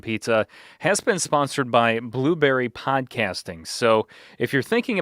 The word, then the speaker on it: Blubrry: different hosting service, give Blueberry a try. Now, that's spelled Blubrry.